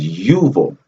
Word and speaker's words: Jubal: show you one thing this ju ball also named as also known or pronounced as yuval now for the video